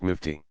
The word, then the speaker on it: mufti: In that capacity the scholar is called a mufti, pronounced mufti.